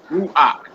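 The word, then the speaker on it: רוּחַ: next to last syllable therefore ruach is stressed on second and last syllable not the last syllable but it will be it's only a two syllable word so the first syllable will be stretch ruach ruach uh the next one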